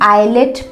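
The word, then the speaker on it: islet: इसे हम आइलेट पढ़ेंगे, आइलेट। यहाँ पे एस साइलेंट हो जाएगा, क्यों? क्योंकि ये आई और एल के बीच में आ रहा है।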